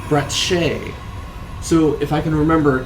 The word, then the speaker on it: Bratsche: brat brat br br I actually like the pronounce Bret Shay so if I can